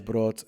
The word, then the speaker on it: Brot: because brot, because they pronounce the R's brot and like for bread, and we're in Berlin and brot and brotchen.